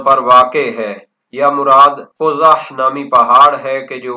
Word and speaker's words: قزح: بیان کرتے ہیں کہ قاف کو ضمہ پیش دی جائے گی، وفتح الزاء المعجمة، اور یہ را نہیں ہے زا پڑھیں گے اور اس کے اوپر فتح یعنی زبر ہوگی۔ قال الشیخ رحمہ